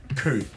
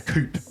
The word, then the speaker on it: coup: We have bought, some people have called this a coup, or a coupe if you don't like your silent letters.